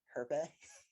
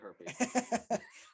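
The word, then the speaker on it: Hjerpe: Herpe? Oh, I don't think that's how you say it. No, it's definitely Herpy.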